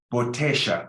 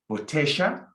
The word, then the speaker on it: botella: But you can also make the double L a sh sound, like in Argentina and some countries in South America. Botella, there's two options. So the double L can be a sh sound, botella, or a yes sound, botella for now. Either one is fine.